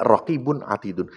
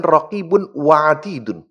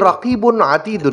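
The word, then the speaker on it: رقيب عتيد: Tidak ada satu kata yang diucapkan pun melainkan di sisinya ada raqibun atidun. Bukan raqibun wa atidun. Bukan. Bukan raqib dan atid bukan. Tapi raqibun atidun.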